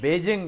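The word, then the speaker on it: Beijing: और एक और मेरे ज़हन में, अब बीजिंग कहते हैं लोग। बीजिंग मिसप्रोनाउंसिएशन है, बेजिंग है, बेजिंग।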